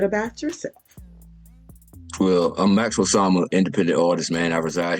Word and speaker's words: Osama: Osama, yes, ma'am.